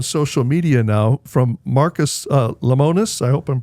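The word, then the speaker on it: Lemonis: Well, and in case people aren't getting the message, there's a statement out on social media now from Marcus Lamonus. I hope I'm pronouncing his name correctly.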